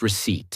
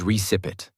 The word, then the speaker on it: receipt: I pronounced receipt as recip.